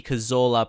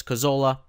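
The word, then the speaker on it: Cazorla: And I think I will just pronounce his name how you would in English right now. I know how previously I was saying his name was how you pronounce it uh in Spain as that's where he was actually born.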